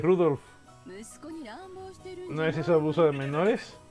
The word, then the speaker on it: Rudolf: nombre es el nombre de este hombre se pronuncia rudo debe odiar al abuelo por llamarla así pero